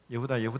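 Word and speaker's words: יהודה: 예후다 이렇게 유다. 그래서 야곱의 넷째 아들 유다, 그걸 이제 히브리식으로 발음하면 예후다 이렇게 됩니다.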